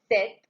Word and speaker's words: cet: adjectives set third one CET the pronunciation is same set it is used with